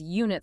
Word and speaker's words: unit: It's a unit because unit starts with a Y sound.